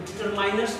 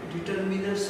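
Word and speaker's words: determiners: तो डिटरमाइनर्स नहीं है, डिटरमिनर्स है। डिटरमिन से बना है डिटरमिनर। इसको डिटरमिनर की जगह डिटरमाइनर्स पढ़ने की कोशिश मत करिएगा, वो रॉन्ग प्रोनाउंसिएशन।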